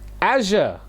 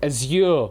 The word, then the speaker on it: azure: Azure or Azure, however you want to pronounce that one.